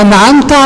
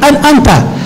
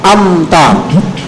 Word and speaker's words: أنعمت: Jadi kebanyakan bacanya an'amta. An'amta, amta. Amta itu dia hamzah. Nah, nggak ada maknanya, tapi kalau an'amta artinya engkau berikan. Jadi di sini perhatikan pada an'amta ainnya jangan sampai diganti menjadi hamzah.